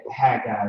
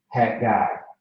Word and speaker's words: Haggai: Yeah, Haggai is how you say it. It's like there's two G's. Haggai.